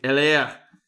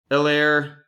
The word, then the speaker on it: Helaire: Go the full French R. Make it sound like you're, hawking a loogie. Helaire going to Doug.